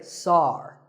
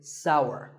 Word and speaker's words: sour: pronounced sour some people say sar that is a mispronunciation the only correct way to say this word is sour many words in the